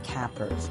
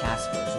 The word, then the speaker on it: Capers: Actually, it's definitely not Caspers, which I used to pronounce it like that, and I don't know where I got the extra S from, or whatever.